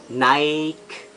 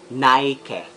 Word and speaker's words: Nike: especially cinema Filipino and Petronas not Anita is Naik Naik and it should be nike nano components should be Nike Versace it's an